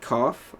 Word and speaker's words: Kawff: My Be Real is cough, but it's spelled Kawff.